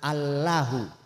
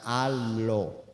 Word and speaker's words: Allah: asalnya memang seperti itu Jadi dibacanya Allah bukan Alla bukan Allo tapi Allah berikutnya lagi bahwa haknya